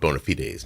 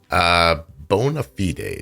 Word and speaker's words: bona fides: Oh, hell, I promised to tell you what bona fides means. Bona fides. It's bona fides? Bona, like that, with an E. Bona fides, spelled with an A, sounds like an E.